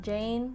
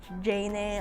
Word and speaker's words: Jayne: print this name here this thing is pronounced as jane not janae or jaime or anything it's just jane with a y because it's easier it's